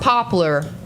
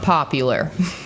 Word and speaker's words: Poplar: And that's Poplar, not popular.